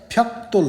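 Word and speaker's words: 벽돌: हामी जेनरली फ्याक्दोल भन्छौँ, तर ग लगत्तै माथि द आयो भने त हुन्छ, फ्याक्तोल उच्चारण गरियो भने बेटर हुन्छ है त।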